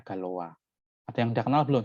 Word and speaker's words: Galois: Galois itu nama orang ya, orang Prancis ya, maka dia bacanya Galois.